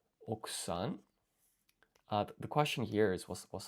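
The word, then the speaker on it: 奥さん: Okusan, I think it was, where this U is silent for some reason. Okusan.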